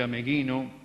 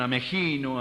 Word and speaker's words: Ameghino: Y hasta la época de nuestra juventud, decir Ameghino era sacarse el sombrero. Hoy algunos lo pronuncian Amegino, Amellino, se han perdido hasta los ecos de su nombre.